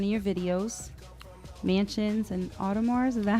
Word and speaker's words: Audemars: Speaking of that, we have one of your videos, Mansions and Audemars. Is that how you pronounce it?